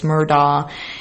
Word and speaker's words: Murdaugh: of the murdah story i talked about how the name is said all these different ways but that google says it's murdah and then i heard